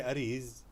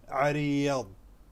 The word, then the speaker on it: عريض: Ain and ضاد, this both letters are a little difficult, so you can say ariz, arid, arid. People will understand it. However, the correct pronunciation is ariyad, کیونکہ عین اور ضاد کا تلفظ تھوڑا مشکل ہے.